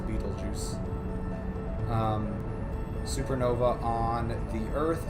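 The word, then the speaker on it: Betelgeuse: possible effects of a battle geese supernova Beetlejuice I think I think it's actually supposed to be pronounced Beetlejuice um Supernova on the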